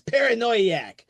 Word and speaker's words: Paranoiac: So, uh, the film we're going to be talking about today is from 1963, and that's Paranoiaak.